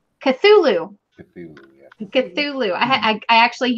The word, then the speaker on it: Cthulhu: Okay, Ornaments is giving away a Chulu ornament, which I'm hoping I said right. No, how do you say that? Cthulhu.